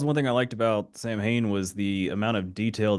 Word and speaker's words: Samhain: But I just found out, like I had found out after we shot it, that the way it's pronounced in Gaelic is Samhain, which I thought was really interesting.